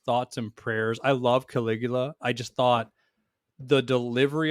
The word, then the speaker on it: Caligula: I don't know how to pronounce it. Caligula? That's Caligula.